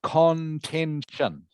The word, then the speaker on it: contention: how it is spelled remembering t i o n is always pronounced shun in english okay bone of contention